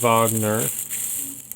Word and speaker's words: Wagner: It's a movement of a larger work, an opera by Richard Wagner, pronounced Wagner, but his name starts with a W, but he's German, so it's Wagner, not Wagner.